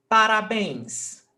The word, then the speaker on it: parabéns: Parabéns. 3 syllables. Parabéns. Bens is the last syllable and it's stressed.